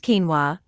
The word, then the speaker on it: quinoa: this gluten-free whole grain is technically a seed pronounced quinoa it's rich in complete protein fiber manganese phosphorus